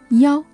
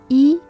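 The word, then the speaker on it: 一: 二零七九九零二 In real life context, you may hear some Chinese people pronounce the number 1 as yao instead of yi, especially in a phone number.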